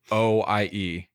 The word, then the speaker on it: Lajoie: Lajoie.